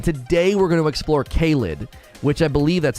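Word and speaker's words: Caelid: the lakes and today we're going to explore caled which i believe that's how you pronounce it caleb is the area to the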